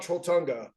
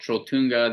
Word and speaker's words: Trolltunga: Now tell me about Trolltunga.